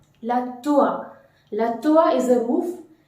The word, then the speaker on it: toit: La toit is a roof. And the T is completely omitted as it is a final consonant letter in French. The final consonant letter is hardly to be pronounced.